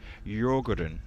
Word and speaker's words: Djurgården: There's many different ways to pronounce this name, but tell you the right way, Djurgården. It's pronounced Djurgården, apparently.